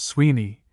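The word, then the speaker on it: Suibhne: Swibney pronounced Sweeney is identical with an Irish Appalachian not uncommon in our day.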